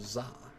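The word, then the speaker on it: ざ: So that would change so or sa to za.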